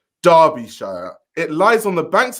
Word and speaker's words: Derbyshire: Derby, pronounced Derby, is a city and unitary authority area in Derbyshire, England, pronounced Derbyshire.